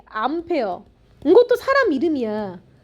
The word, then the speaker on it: 암페어: 암페어. 이것도 사람 이름이야. 앙페르라는 프랑스 사람인데 이걸 미국말로 발음하면 암페어가 돼서이 암페어라는 단위를 붙여 줘야 돼.